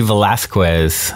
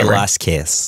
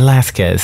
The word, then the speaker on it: Velasquez: have heard of Lizzie Velasquez? Am I saying that right, Dan? You usually don't pronounce the U. See, so I knew I was getting it wrong. How should I say it? Say Velasquez.